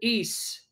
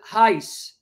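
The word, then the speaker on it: εἷς: whether Catholic or Protestant, they don't pronounce it Es. They pronounce it Heis. They don't say Kyrios. They say Kurios.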